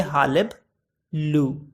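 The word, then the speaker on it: hullabaloo: इसको प्रोनाउंस करने का तरीका देखिए, हालिब लू।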